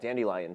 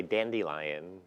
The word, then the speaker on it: Dandelion: And it's funny how some people say dandelion. Or what is it? How do you say it? Well, I say dandelion.